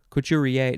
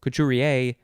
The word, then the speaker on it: couturier: couth couth cuthie couture couturier cuchurier no couturier couturier kuvad covalence covalency